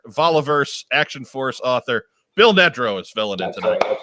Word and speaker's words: Nedrow: Remember, it's pronounced Nedrow. And my reply was like Ned Beatty, which I thought made perfect sense.